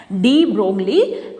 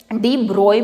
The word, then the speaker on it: de Broglie: Which is given by डी ब्रोय भी बोल देते हैं बेटा, इनको डी ब्रोगली भी बोल देते हैं। जो आप प्रोनाउंस करना चाहें वो कर सकते हैं।